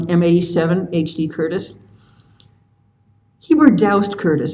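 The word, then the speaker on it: Doust: HD Curtis he were doused Curtis I learned how to pronounce his middle name by phoning his last living student at asking I was told to rhyme with soused no I think it's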